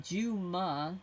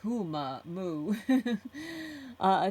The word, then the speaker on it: Juma: And the last thing is my name is pronounced Juma, not Huma Moo.